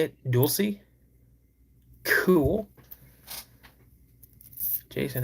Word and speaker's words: Dulce: in how do you say is it do Dulce New Mexico? You don't have any questions. That's cool. I never felt like I'm arguing. Wayne, what's going on buddy? So that's how you say it. Dulie, cool.